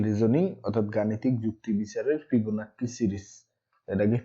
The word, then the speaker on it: Fibonacci: আজকের ক্লাসে আমরা শিখব চ্যাপ্টার 1 ম্যাথমেটিক্যাল রিজনিং অর্থাৎ গাণিতিক যুক্তি বিচারের ফিবোনাক্সি সিরিজ। এটাকে ফিবোনাচ্চি উচ্চারণ করা যায়।